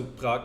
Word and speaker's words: Prague: her way to uh to prag now or Prague or yeah I'm always inclined to pronounce it in German even though it's not you know as of now a you know a German City it's of course a